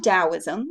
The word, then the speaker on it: Taoism: There was another belief system which I mentioned earlier, which is Taoism. Now, I know this starts with a T, but it's pronounced with a D.